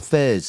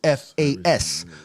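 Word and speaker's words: فاس: It's not fez. It's not spelt in Arabic. In English, F-E-Z is F-A-S. Fas.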